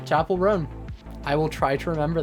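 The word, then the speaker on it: Chappell Roan: I just thought it was Chappelle because that's how it's spelled. Okay, Chapel Roan.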